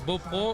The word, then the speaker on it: Beaupréau: personnes qui nous regardent, on prononce Beaupro ou Beaupréau? Alors j'ai un historien à côté de moi, un historien local. Mais généralement, on dit que lorsque les gens disent Beaupro, c'est qu'ils sont devenus du territoire.